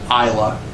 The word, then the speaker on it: Islay: An exception being the really smoky, peaty Scotches from the Isle of Islay. I believe I'm pronouncing that right.